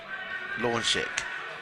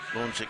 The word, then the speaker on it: Launchek: Now I think they said Launchek, so Launchek is how we're going to pronounce it.